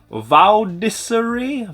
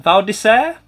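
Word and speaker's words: Val d'Isère: I'm going to butcher the pronunciation of it, but that is Valdiseri. Valdisair. That probably sounds better.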